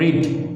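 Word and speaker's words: read: Irregular ভার্বের ক্ষেত্রে যেমন রিড, এটা কিন্তু এখন উচ্চারণটাও কিন্তু প্রনাউন্সিয়েশনটা কিন্তু রিড হবে না, হয়ে যাবে রেড।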